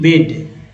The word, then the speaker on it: bade: लेकिन यहाँ पर स्पेलिंग जो है आप ए लगा लीजिएगा, BADE, बेड, ये वाला होगा।